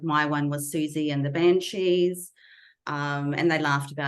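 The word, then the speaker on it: Siouxsie: programmed me to have was Susie spelled with uh s-i-o-u-x s-i-e um in my first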